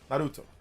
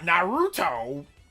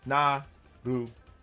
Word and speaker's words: Naruto: I pronounce it the way that's supposed to be pronounced. Naruto. That's the way you're supposed to pronounce it. It's not Naruto. It's pronounced Naruto.